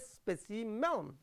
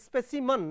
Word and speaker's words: specimen: And the second stanza, how insulting to be called a specimen, that is specimen, not specimen, right, human specimen, we should pronounce like this, specimen, we say specimen, actually that is specimen, human, right.